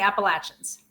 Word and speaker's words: Appalachia: that what I heard yeah we're in the Appalachians in Western North Carolina thanks for pronouncing it correctly it's pronounced Appalachia yes I